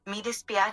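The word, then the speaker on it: mi dispiace: Midispia is how you say I'm sorry in Italian.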